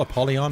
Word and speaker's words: Apollyon: I don't think I'll ever call Apollyon Apollyon, even though that's how it's pronounced.